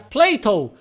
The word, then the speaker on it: Plato: Em inglês, Platão se pronuncia Plato, que é muito parecido com Play-Doh, aquela marca de massinha.